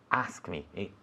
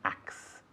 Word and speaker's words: ask: Mucha gente dice ax, pero no puedes decirlo. ¿Qué significa ax en castellano, José? Ok. Entonces, cuando tengo que decir ask me, no quiero decir ask me, porque es como acha me.